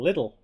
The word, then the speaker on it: Lidl: In German, we have a chain called Lidl, pronounced Lidl.